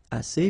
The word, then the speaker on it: assez: Assez means enough, okay? Assez. Remember, two vowels here, a and then e, and then double S, so it's really strong, the S.